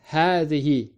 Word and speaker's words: هذه: Similar to هذا, هذه also has a hidden alif after the first ha. So we pronounce it as هذه by elongating the a sound.